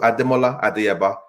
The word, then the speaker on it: Adeola: name to remember so adeola the first name is four syllables nice and easy I'm